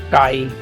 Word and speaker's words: chi: Last one, 7, chi m. It is defined as the ratio of I and H. That's why this is also dimensionless number. Ratio I by H. Chi, pronounced as chi.